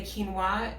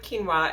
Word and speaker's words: quinoa: If you aren't familiar with quinoa, it's typically found near the rice at the grocery store. The trick is that it's pronounced very differently than it's spelled.